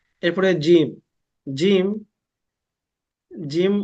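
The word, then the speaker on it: جيم: মিম তিনটা হরফ মিলে জিম তো আমরা আগে অনেকে পড়েছি জিম হাবার টানিনি আমাদের টানতে হবে কমপক্ষে দুই সেকেন্ড টানবো আমরা জিম সবাই বলি দেখি একটু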